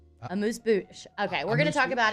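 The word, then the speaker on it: amuse-bouche: Well, what's a moose booze? Yep, that's what we're gonna call it now. What are you saying? Amuse bouche.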